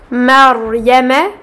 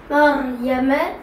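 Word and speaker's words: مَرْيَم: Cas numéro 2, dans le mot Maryama. Maryama. Le Ra possède un Sukun et est précédé d'une Fatha. C'est le cas numéro 2 pour lequel nous allons emphatiser le Ra.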